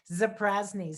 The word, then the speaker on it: Zaprazny: We just make it easy, but it's Zaprazny. So Zaprazny, and happy to be.